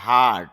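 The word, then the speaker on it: heart: হেয়ারিং শ্রবণ বা শোনানি হার্ট এটা হ্যাড হবে না হার্ট এরকম হবে হার্ট শব্দের অর্থ হল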